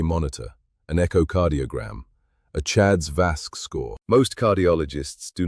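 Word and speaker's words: CHA2DS2-VASc: And then ask for the third thing, a Chad's 2 Vasque score assessment, pronounced Chad's Vasque.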